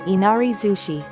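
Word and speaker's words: 稲荷寿司: Inari zushi nigiri plus sushi right pointing arrow nigiri zushi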